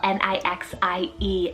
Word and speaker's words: Nixie: hindi rooted meaning blue then we have nixie n-i-x-i-e nixie this one is so fun it's german